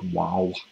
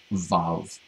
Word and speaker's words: vav: It looks like wow, the way he transliterates it. We don't have to go into why that's the case. It's pronounced vav, the vav consecutive.